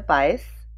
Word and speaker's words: Buyse: Hi, my name is Buyse, rhymes with Miami Vice.